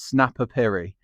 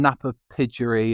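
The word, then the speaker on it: Napapijri: So I didn't know how to pronounce Snapper Piri, and everyone kept on saying Napa Pidgery and all of this.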